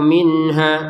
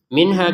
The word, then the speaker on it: minha: An nafsin syai'aw wa la yuqbalu minha, lanya 2 harokat, qafnya dipantulkan yuqbalu, jangan sekedar yuqbalu yuk. Nah, seperti itu. Minha kita baca dengan jelas, minha, jangan dengung, minha salah ya, nggak boleh dengung.